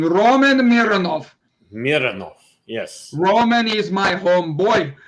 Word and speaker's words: Mironov: Do we say it like German? Mironov. Or Russian. Russian, that's what I mean. Roman Mironov. Mironov, yes.